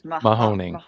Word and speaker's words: Mahoning: How do you pronounce the name of the river that it crosses? Mahoning. Mahoning.